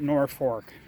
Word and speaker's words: Norfolk: else in the world, you'd look at the town in Virginia and say that's Norfolk. It's spelled exactly the same way. I have no idea why, but people in Nebraska call it Norfolk.